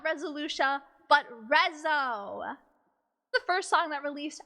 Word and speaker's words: RESO!: first song that released as not resolution but rezzo the first song that released as rezzo from